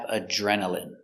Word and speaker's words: adrenaline: Next we have adrenaline. Adrenaline. Remember, INE here is pronounced in.